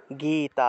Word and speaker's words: গীতা: এভাবে উচ্চারণ করতে হবে গ তে গেট একটু টান দিতে হবে কারণ দীর্ঘ ইকার আছে গীতা গীতা এভাবে শ্রীমত ভগবত গীতা এভাবে